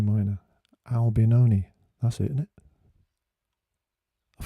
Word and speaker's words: Albinoni: italian look is it adagio in g minor albinoni that's it in it i forgot it last